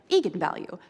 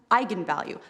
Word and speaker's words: eigenvalue: that i wasn't quite sure on how to pronounce it looked to me like eagan value so right i mean i think that's what